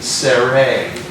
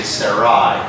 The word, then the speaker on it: Sarai: Now in Genesis 12, their names are Abram and if you pronounce it correctly, Sere, but no people in America, we say Sarai, but technically it's S.